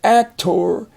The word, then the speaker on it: actor: But here it's in an unaccented syllable. So for example, you could say actor. He is an actor. But the accent is on the first syllable here. And so the last syllable is not accented. It doesn't have a stress. It's not as loud as the first syllable. So we say actor. We just say actor.